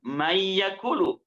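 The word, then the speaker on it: من يقول: kita itu idgom bunah man yakulu baca Man yakulu karena hukumnya adalah idgam maka dimasukkan mayyakulu enggak sekedar hanya dimasukkan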